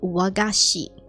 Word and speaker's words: wagashi: Japanese sweets are called wagashi This is a g and not a c so it's a softer sound than a k it becomes a g wagashi wagashi is actually